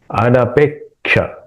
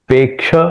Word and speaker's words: अनपेक्षः: उसके बारे में इसलिए अनपेक्षः अनपेक्ष पेक्षा ऐसा नहीं पे क उच्चारण होना चाहिए क्योंकि क्ष में पहला क है अनपेक्षः ऐसा उच्चारण करना क वहां पे सुनाई देना चाहिए और विसर्ग और शुके बाद में है।